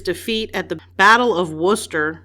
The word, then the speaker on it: Worcester: at the battle of worcester i think that's how you say it in england worcester like worcestershire like worcestershire i say worcestershire i'm